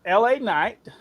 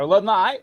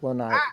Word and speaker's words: LA Knight: a little bit of La KN or L night as yes L night yes proper pronunciation here's my here's my